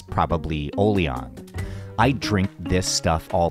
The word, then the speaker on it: Oliang: name from the Teochew word for iced coffee, pronounced Oliang.